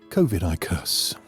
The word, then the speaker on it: Covidicus: taken from the mythical book of covidicus pronounced kovidicus in the years of